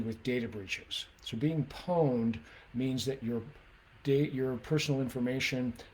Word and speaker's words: pwned: Um, PWN, pronounced like own, but with a P at the beginning, so pwned, is actually a typo from an old video game.